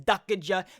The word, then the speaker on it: Dukaja: I asked him if I got it right, but that's how you say it. Is Dukaja, the main editor and content creator for KARNAGE Clan.